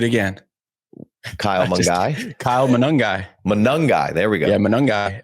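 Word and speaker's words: Monangai: I always mess this guy's name up Kyle mongi do it again Kyle mangi Kyle manongi manungi there we go yeah manangi missed a syllable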